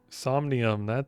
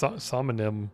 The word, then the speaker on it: Somnium: Somnium. That's it. I kept wanting to say Somnium or something.